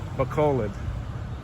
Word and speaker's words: Balod: I'm just joking because I've been told the pronunciation two different ways, Balod and Balod. But from what the locals are telling me, it's Balod.